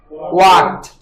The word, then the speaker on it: walked: When a verb ends in one of these sounds, the last D or ED is pronounced as T. Like walk. The second form becomes walked.